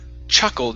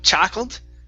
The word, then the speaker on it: chuckled: okay let's go to the word chuckled instead of cha chackled okay give me an uh sound here chuckled good good one more